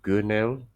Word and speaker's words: Gunel: I think you said it's pronounced Gunel.